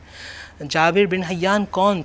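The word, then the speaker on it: جابر: Jabir bin Hayyan जिनको गाबिर बना दिया गया क्योंकि प्रोनाउंसिएशन की वजह से।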